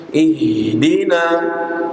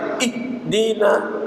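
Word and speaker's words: اهدنا: alqah qah ihdina ihdina bukan ih dinina ih Dina itu keliru itu dibacanya SID atau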